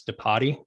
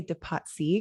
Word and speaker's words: Depatie: going to assume it's departi is that right i mean that's a good assumption because that's how it's spelled but i like to say de patsy because it sounds fancier and we don't have